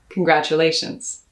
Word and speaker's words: congratulations: to harness my pronunciation i stress that a in congratulations that's the fourth of five syllables so push the energy and the breath forward so that you can lean into the a sound congratulations congratulations that's